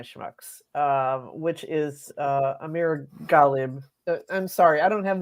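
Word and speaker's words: Amir Ghalib: one of my Schmucks um which is uh Amir galib I'm sorry I don't have the BBC pronouncer how does he pronounce his name it's Amir khb Amir khib okay Amir khib mayor of hamic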